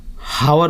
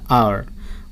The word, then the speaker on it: hour: जैसे कि HOUR हावर पढ़ता है लोग उसको, लेकिन उसका प्रोनाउंसिएशन होता है आवर।